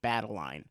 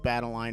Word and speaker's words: Badeline: The main character, Badeline, has a physical manifestation of her anxiety, Badeline. This is a really clever name choice because it rhymes with Madeline.